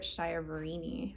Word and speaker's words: Chiaverini: The next book I read starting in February and into March was Fates and Traitors by Jennifer Schiaverini, I believe is how you say her name.